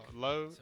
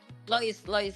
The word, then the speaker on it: Lois: I'm gonna Low. Is that how you say her name? Low. Lois, yes, Lois.